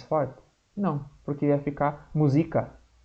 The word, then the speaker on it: música: Por exemplo, a palavra música. Música. Aí nós vamos falar assim, professor, mas não é o zi o mais forte? Não, porque ia ficar música.